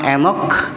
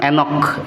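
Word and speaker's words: Enoch: Maka ketika ketemu dengan nama Enok ya.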